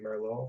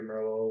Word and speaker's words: Merlot: of those black cherry Merlot, a black cherry Merlot, black cherry Merlot. I think the T is silent.